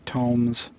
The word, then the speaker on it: Tomes: on the bookshelf labeled Musty Tomes, or sort of rhymes with tombs.